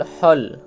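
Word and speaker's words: hall: তারপর এইচ A double L হল। হল মানে বড় ঘর বা বড় একটি কক্ষ। তাহলে এক্ষেত্রে এ ভালটি অ এর মত উচ্চারিত হলো।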